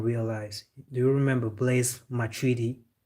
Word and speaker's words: Matuidi: Do you remember Blaise Matuidi? In English you would say Blaise Matuidi, but French they say Blaise Matuidi. I don't know where they saw the G, but that's how they pronounce it.